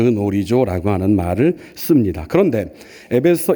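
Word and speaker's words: γνωρίζω: 그놀이조 정확하게는이 그가 무음이 되기 때문에 놀이조라고 발음하는 것이 맞는데요.이 놀이조라는 말을 씁니다.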